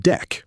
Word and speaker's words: deque: The deque, pronounced deck, is a double-ended queue.